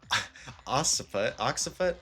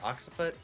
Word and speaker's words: occiput: I'm pretty sure it's like almost like an X sound, like double C, so it's like occiput.